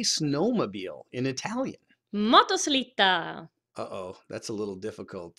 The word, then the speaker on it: motoslitta: Motoslitta.